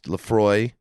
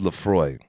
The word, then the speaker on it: Laphroaig: uh 10 year age laphroaig that's how you say it if you're looking at it right there um it looks a little weird but it is called laphroaig and guys we we